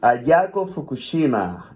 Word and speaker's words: Ayako Fukushima: And Ayako Fukushima, that's the right way to pronounce it? Yes, that's right.